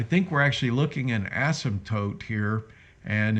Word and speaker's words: asymptote: technical word for that a sim tote i think it's let me hear hold on let me click on it asymptote oh asymptote i knew i was saying it wrong all right asymptote so